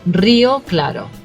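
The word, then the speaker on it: Rio Claro: Southeast and that is real claro right so if you had to pronounce it in Spanish again that R is going to you have to roll it on and it should be brioclado yeah I thought anybody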